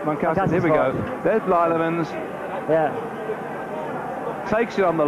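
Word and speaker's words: Blijlevens: It's B-L-I-J-L-I-E-V-N-S, Blyevans.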